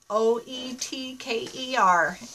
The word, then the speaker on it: Oetker: O-E-T-K-E-R is our last name. It's a German name and the O is silent. So it's pronounced Oetker.